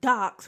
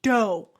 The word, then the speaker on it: Deaux: And for all you little special case mugs, DEAUS is not docs, motherfucker. It's dough.